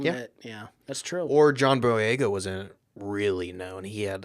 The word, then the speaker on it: Boyega: Boyega, right? Yeah, John Boyega.